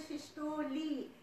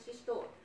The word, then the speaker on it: systole: So we have to, and also the diastole and systole. It's not diastole and systole, like we know from similar spelling of the last syllable.